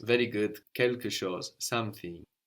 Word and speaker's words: chose: The word for thing was chose. How was something? Quelque. Quelque chose. Very good. Quelque chose.